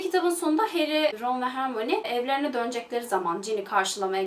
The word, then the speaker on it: Hermione: Normalde Hermione diye okunuyor ismi. Dublaj yapan insanlar Hermione diyorlarmış. O yüzden ben de Türkçesinde Hermione olarak bahsedeceğim.